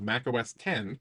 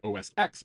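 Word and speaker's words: Mac OS X: very first version of Mac OS 10 and the X is pronounced 10 because Steve Jobs knew that that having thousands of nerds correcting everyone when they called it OSX would not result in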